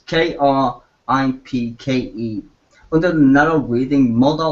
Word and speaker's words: Kripke: It's hard to spell, well, it's hard to pronounce, but it's Kripke.